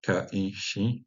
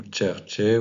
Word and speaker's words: Kirke: En norvégien, on prononcera Kaishi, donc Kirke, ou Tjerche ou Turche dans les dialectes.